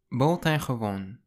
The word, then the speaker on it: buitengewoon: Now it looks very different to how it sounds. So the first three letters are pronounced bo, then ten, then a G and an E is pronounced ge, and then the W makes a V sound.